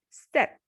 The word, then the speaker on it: sept: In number 7, P will be silent. So the pronunciation will be set, not sept, it is set.